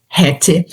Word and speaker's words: hätte: I het. Esse e de hat het é que nem café, igualzinho, tá?